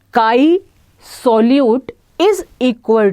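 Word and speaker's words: χ: कुछ मिलता जुलता है, इसको हम काई प्रोनाउंस करते हैं, CHI काई। ये एक ग्रीक लेटर है पर जनरली लोग इसको x ही प्रोनाउंस कर देते हैं कि XA एंड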